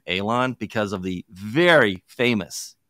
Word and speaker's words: Alon: name so the the the appropriate terminology of how to pronounce it is Alon it's an El long a but hey I go